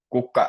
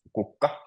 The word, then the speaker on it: kukka: So if you'll try to pronounce kukka. Kukka. Kukka. Yeah, perfect. So you always stress the first syllable, kukka.